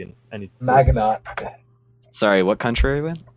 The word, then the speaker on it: Maginot: me out lion yeah you don't pronounce the T in any Maginot okay sorry what country